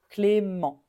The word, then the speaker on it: Clément: au masculin on prononce Clément oui on ne prononce pas le T à la fin Clément on termine avec la voyelle nasale en Clément Clément celui-ci pareil on a